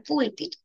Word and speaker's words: púlpito: Púlpito, la mayor fuerza de voz. se presenta en la última penúltima, antepenúltima sílaba, ¿no? Entonces, al estar en la penúltima sílaba, nosotros decimos que esta es una palabra esdrúcula.